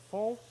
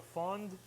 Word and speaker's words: fond: That's called a fond. Non-French people call it a fond. The D is silent.